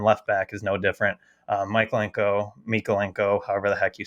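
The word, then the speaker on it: Mykolenko: just heard it on the TV this past weekend, so it's Mikolenko. Yeah, and then God, Dylan, you're gonna have to help me with that pronunciation.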